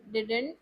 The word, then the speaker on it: didn't: नहीं, ये साइलेंट होता है, डी। Didn't. हाँ, तो ऐसे मान लीजिए, ठीक है। ये वाला डी साइलेंट होगा तो डिंट बोला जाएगा, ठीक है।